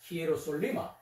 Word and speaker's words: Hierosoluma: Into Hierosoluma. English pronunciation is the Jerusalem. Jerusalem. But Greek pronunciation is the Hierosoluma.